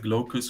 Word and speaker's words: Glaucus: So it's pronounced Glaucus or Glaucus Linux.